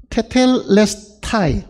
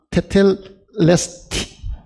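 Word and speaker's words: τετέλεσται: 테텔레스타이. 지금 헬라어 발음은 이걸 타이라고 안 하고 아마 테텔레스티. 이렇게 이야기할 겁니다.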